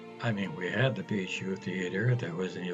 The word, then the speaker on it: Bijou: The correct pronunciation as given by Webster is as if it were spelt, and they go on to spell it, Bijou. Bijou. Bless you. Except on the first syllable.